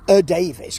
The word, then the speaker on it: Davies: Gareth Davis because that is how he seems to pronounce his name.